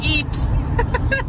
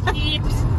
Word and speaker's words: hips: Hips. Hips. Siempre me molestan así. En inglés no se dice hips. No. Eso suena en español, pero en inglés se dice hips. Hips. Hips, no hi.